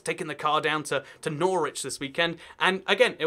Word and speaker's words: Norwich: This is Norwich, not Norwich. And the reason for that is not really a great one, to be honest. It's just language evolved and people stopped saying the W in there, even though they say it in the South one.